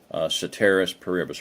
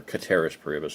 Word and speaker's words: ceteris paribus: Ceteris paribus, or Cateris paribus, technically. I took Latin for 4 years. I know how to pronounce these things, but it looks like Ceteris paribus in English, so we'll say Ceteris paribus. That's what Michael Bunker called it. Actually, in Latin, a C is a hard K.